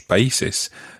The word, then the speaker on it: países: He said, me gusta mucho viajar a otros países.